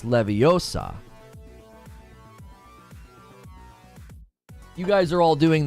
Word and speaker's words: Leviosa: uh the combo it's never pronounced with an O always with an a with an a in the books for sure huh I